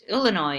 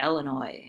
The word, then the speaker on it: Illinois: the radio station because I was told I mispronounced the state that we live in it's Illinois not Illinois and so bloopers will get angry calls understanding